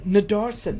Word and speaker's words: Nadarsen: Well, talking about road trips, today we have Sudesh Nadarsen, is how you pronounce it, eh?